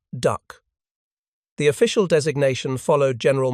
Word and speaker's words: DUKW: The Americans called it a DUKW. The soldiers pronounced it duck.